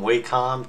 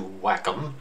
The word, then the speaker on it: Wacom: I'm now going to change from Wacom to Wacom which is what I've heard is the right way to say it so let me go